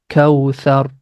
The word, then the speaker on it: كوثر: Letter tha we pronounce very softly.